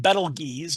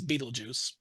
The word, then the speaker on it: Betelgeuse: popular target again, Betelgeuse, which is technically pronounced Betelgeuse, but everyone says Betelgeuse. So I try not to be a nerdy smart at all and say Betelgeuse, excuse me. No, Betelgeuse is just fine.